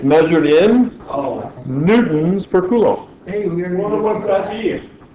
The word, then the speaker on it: coulomb: Measured in coulombs. Coulombs. Kind of a fun word to say. Johnny, you should hear Johnny. Should hear Johnny say coulomb. Columns. Yeah, he literally pronounces columns, and I'm like, Johnny,